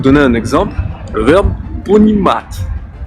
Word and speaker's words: Понимать: Ça veut dire qu'après le T, il y a cette espèce de petit B pour signifier que c'est un T dit mouillé, comme par exemple dans le mot français tien.